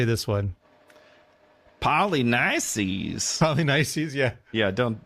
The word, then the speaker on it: Polynices: Polynices. Polynices, yeah. Yeah, don't. Polynikes, probably, right, is what it would be in Greek.